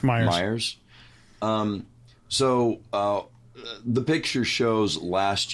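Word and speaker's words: Meijer: The article we're pointing to claims that this was seen at, is it Measure? Myers. I don't know how to pronounce it. It's Myers.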